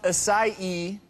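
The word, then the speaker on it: açaí: properties oh it's so good so the Berry's pronounced aai even though it's spelled a AI it's 90%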